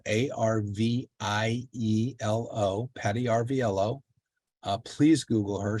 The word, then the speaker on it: Arvielo: It's spelled A-R-V-I-E-L-O, Patty Arvielo.